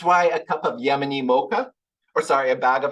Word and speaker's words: Mocha: over it this town is called MAA you pronounce it as mocha it's not the thing again they charge $6